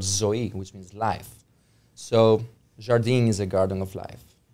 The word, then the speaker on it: Zardin: you are the founder of is it pronounced Jardin it's pronounced Jardine Jardine yes sir and that is is that